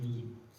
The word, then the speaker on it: 景: 这个景可以读成影，其实它就是影子的意思，所以说我们就直接读成影，没问题。